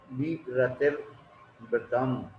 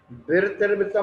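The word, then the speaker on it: विरतिर्व्रतम्: तो सातवें अध्याय की प्रथम सूत्र में बात कही, हिंसान्तस्य ब्रह्म परिक्रीभ्यो विरतिर्व्रतम। उच्चारण पर गौर कीजिए, विरतिर्व्रतम नहीं पढ़ना है, विरतिर्व्रतम पढ़ना है। यदि विरतिर्व्रतम पढ़ोगे तो दोनों राह ह्रस्व हो जाएंगे।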